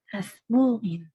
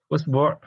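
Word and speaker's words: إصبع: Usbu', isba', asbu', asba', isba', semuanya benar. Ini untuk jari. Jadi bisa dibaca dengan harokat semuanya. Ada belasan ya, bahkan belasan cara baca ini ada memang dalam bahasa Arab dan diakui semuanya benar.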